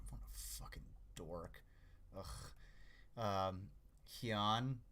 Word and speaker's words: Hyun: Hyun, typically pronounced Hyan, like cyan.